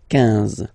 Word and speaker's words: quinze: Same thing here, U doesn't exist, so quinze, quinze, quinze, alright?